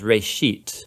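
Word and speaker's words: רֵאשִׁית: genesis genesis comes from a hebrew word uh it's pronounced reishit and it just means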